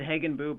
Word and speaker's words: Hagenbuch: We pronounce it Hagenbuch, but that's fine, Peter.